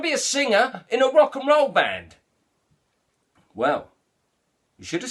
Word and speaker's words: rock and roll: And that's pronounce rock and roll separately, like it's three separate words, rock and roll. It's rock and roll, like one word, three syllables.